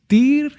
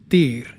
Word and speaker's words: Tyr: When we start speaking about the rune Tyr, the rune Tyr is about awaken consciousness. This particular rune with a T, the Y and the R, when we pronounce it, it is T I R.